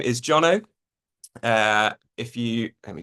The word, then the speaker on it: Jono: Um my name is Jonno. Uh if you Let me just see if this is working. Here we go. My name is Jonno. Uh, it rhymes with Bono as Willam once told